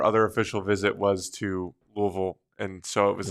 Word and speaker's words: Louisville: yeah you have to say swallow your l i see I've never even been there I just know from some people that I've worked with in in baseball that like nope you have to say it like you have a mouthful of peanut butter my sister went to